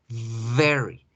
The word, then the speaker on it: very: Mientras que el intensificador muy se debe pronunciar very, very, very.